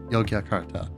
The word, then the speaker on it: Yogyakarta: I'd probably need a little bit more practice to pronounce it properly, but Yogyakarta. Yogyakarta? Yogyakarta.